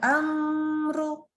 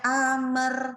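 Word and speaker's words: أمر: Nggak boleh amer. Nah, ini nggak boleh. Jadi bacanya lalu r-nya keluar. Amr.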